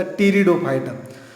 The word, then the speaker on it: Pteridophyta: और third division जो है, इसका स्पेलिंग अलग है लेकिन प्रोनाउंसिएशन देखिए, PTE, टेरिडोफाइटा। टेरिडोफाइटा PTE, लेकिन पी का प्रोनाउंसिएशन जो है वो नहीं आता, टेरिडोफाइटा।